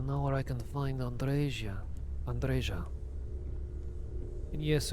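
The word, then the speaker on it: Andreja: andresia andresia and yes your name is pronounced andresia because I did research into lots of different other East European languages most of them do Andrea but specifically Romanian pronounces it andresia and also one of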